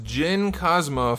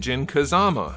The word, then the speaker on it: Jin Kazama: at the storm collectibles gin cosma from tekken 7 or if you were me as a kid jin kazama which is not how you pronounce that name and this guy is